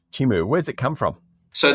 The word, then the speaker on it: Chimu: how do I pronounce it how do you pronounce it more importantly uh chimu chimu where's it come from so there are a